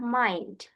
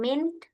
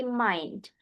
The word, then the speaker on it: mind: Concerned untuk yang ini dibacanya adalah mind. Bukan mean tapi mind.